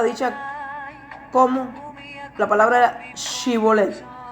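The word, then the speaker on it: שיבולת: como la palabra era Shibolet o Shebolet. Está escrito que si no podían pronunciarla, en su defecto decían Sibolet, y se les reconocía como que pertenecía a una rama enemiga y se los asesinaba.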